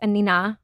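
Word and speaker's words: Anine: I thought it was Annie Bing. So everybody does. Oh, okay. Yes. Okay. I believe she's Swedish. Okay. I only recently learned that it's Anina.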